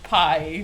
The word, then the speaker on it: pi: But after class, my teacher was like, "So I know this is technically the right pronunciation because it's like Greek or whatever." Yeah. But Right. we just say pi, not p.